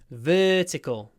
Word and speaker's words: vertical: draw a vertical line vertical double sound v v vertical line vertical line lips forward tongue forward vertical a vertical line